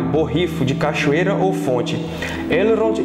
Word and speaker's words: Elrond: a pronúncia é que o certo mesmo é elrond assim com o l bem pronunciado l e o r vibrado r então fica elrond para saber mais sobre